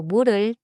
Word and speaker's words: 물을: 물 ends with and begins with a vowel sound. So 물을 flows as 물을 마셔요.